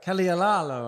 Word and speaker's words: Caldieraro: Caldieraro, right? Say it right. You got it right. I'm really bad at Italian pronunciation.